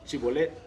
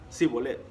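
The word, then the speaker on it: Shibolet: Si él respondía, no, versículo 6, entonces le decían, ahora pues di Chibolet. Y él decía Sibolet, porque no podía pronunciarlo correctamente.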